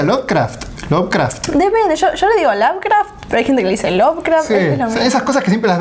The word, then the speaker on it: Lovecraft: que me llamó la atención es lovecraft se pronuncia lovecraft esas cosas que siempre las vemos por escrito